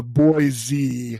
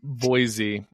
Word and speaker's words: Boise: about when someone uh comes at you with a boy Z oh yeah Idaho yeah no that's like it's spelled b o y z yeah Boise um and uh that